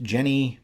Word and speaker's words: Jenny: Yenni Von VES Fallen it may be pronounced Jenny but German speakers online don't seem to agree on how this name is pronounced so I'm just going to stick with Yenni but as her name